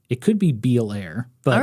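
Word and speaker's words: Beallair: I think it's pronounced Belair like The Fresh Prince of Bel Air it's it's b e a l l a i r it could be beair but all right I'm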